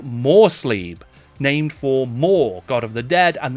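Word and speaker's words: Morr: The other moon of the known world is called Morsleeb, named for Mor, god of the dead, and that is spelled M-O-R-R.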